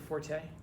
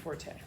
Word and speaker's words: forte: The word's not pronounced forte. The world's the word's pronounced fort. There's no accent on the e. It's not a French word.